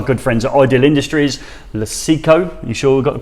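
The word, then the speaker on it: Lucecco: well as our good friends at ideal Industries lucico you sure we've got the pronunciation right yes I have yes lasiko we are tools have supported this event the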